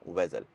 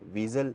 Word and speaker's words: Vezel: से यह बन गया वेजल तो इसको हम प्रोनाउंस विजल नहीं करेंगे यह एक्चुअल में वेजल है और अब आते हैं